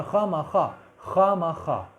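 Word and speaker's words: خوامخواہ: मेज़बान को मुस्कुराने और खामाखा, और इसके जो वाव जो है साइलेंट है, खामाखा अखलाक बरतने से फुर्सत कहाँ कि वो कुछ बताएं या हम पूछ सकें।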